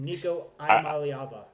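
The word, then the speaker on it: Iamaleava: You can elaborate that, but Nicoyaba. Yeah, I would never have never have thought to pronounce that last name.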